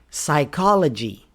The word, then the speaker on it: psychology: The P is silent in PS or PN words. This is especially true when the words are related to science, scientific words. Psycho. A crazy person is a psycho. Psychology.